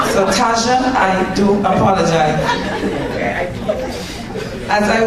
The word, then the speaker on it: Tajwa: I came here and I said to Tristan, how do you say this young lady's name? Because I don't want to mess it up. He said, Claire, Tajwa. So Tajwa, I do apologize.